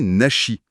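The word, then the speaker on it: 梨: On pense qu'il y a eu une étape intermédiaire, Kamenashi, mais écrit avec le kanji de la poire, Nari, qui se prononce aussi Nashi.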